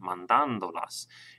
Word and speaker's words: mandándolas: that, you'll notice that I have an accent mark over that A right there, mandándolas. And that's because it's on the 3rd syllable back from the end. That's where the stress lies.